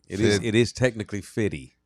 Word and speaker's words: 50: It is technically Fitty. Fitty. Fitty like rhymes with Diddy.